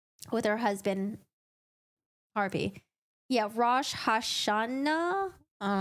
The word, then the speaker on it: Rosh Hashanah: Oh, is that how you pronounce it? Rosh Hashanah?